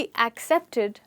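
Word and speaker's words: accept: तो इस वर्ड की करेक्ट प्रोनाउंसिएशन है एक्सेप्ट। एक्सेप्ट। यहां पर आप स्ट्रेस दे रहे हैं वर्ड के पहले हिस्से पे। इस वर्ड के दो हिस्से हैं, एक् और सेप्ट, पर आप स्ट्रेस दे रहे हैं एक् पर, तो आप कह रहे हैं एक्सेप्ट।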